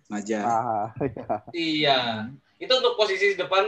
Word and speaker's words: Maja: Bacanya Maja atau Mahas nih? Maja.